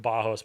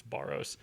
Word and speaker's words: Barros: Alter Ego your identity my last name is pronounced bajos but just for Simplicity sake it's borrow uh yeah there go